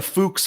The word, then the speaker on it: Fuchs: a nice guy he was just saying you pronounced it wrong it's a fuchs wheel i can i can write all right